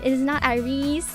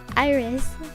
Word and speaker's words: IRyS: It is not IRyS. It is not IRyS. It is just IRyS. Yes, like the flower.